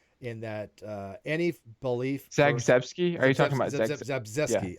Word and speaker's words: Zagzebski: Zagzebski, I believe. Zabriskie is how she pronounces it.